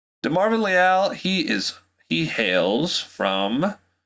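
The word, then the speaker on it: Leal: youtube video first because that is how you pronounced it it is not leel it's lyall he is he hails from a college texas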